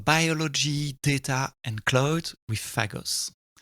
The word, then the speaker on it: Phagos: And um I pronounce with my French accent fagos at the beginning of at the introduction of the show. It's actually Fagos.